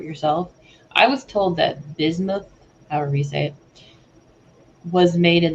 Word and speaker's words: bismuth: Jesus related and then he was talking about bism u t h bismuth I think it's bismuth Stone um in